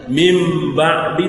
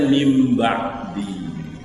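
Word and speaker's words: من بعد: Min ba'di pasti bacanya mim ba'di Tapi enggak dibahas kenapa enggak dibahas sudahudah tahu semua sudah paham semua sudah diluar kepala dari anak-anak sudah tahu ketika tulisannya Min ba'di bacanya mim ba'di nah kita kan bukan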